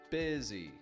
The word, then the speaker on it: busy: Crystal, busy, really, that make an I sound, but the spelling isn't exactly an I sound.